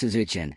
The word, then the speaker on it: saison: A saison, pronounced "se-zon", is a Belgian farmhouse ale with ancient roots.